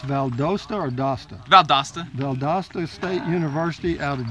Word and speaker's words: Valdosta: town and go experience something different that's that's pronounce Valdosta or Doster Valdosta Valdosta State University out of Georgia right yes